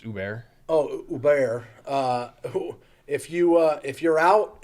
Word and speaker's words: Uber: We offer you guys a program with Lyft and Uber, BG. It's pronounced Uber.